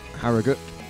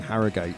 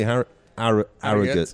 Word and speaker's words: Harrogate: George's Hotel in Harrogate. I've been pronouncing it wrong all week. I've been saying Harrogate. Oh, like we got somebody last night, actually. Well, let's hear him now. That's how you say Harrogate.